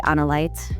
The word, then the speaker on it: Analite: I know like the katakana is Anaraito, so I would just say Analite, and that's easy.